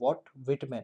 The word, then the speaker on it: Walt Whitman: ये इनका pronunciation जो है इस नाम का, वो आप ध्यान रखिए कि ये इसका जो pronunciation होगा वो आप वाइट नहीं बोलोगे, ये वॉट विटमैन है ना.